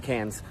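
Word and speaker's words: Cairns: Only 160,000 people live in Cans. Uh C A I R Ns. They say cans.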